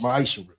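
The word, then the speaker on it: מעשר: Means 10th in Hebrew and is pronounced ma'ishra.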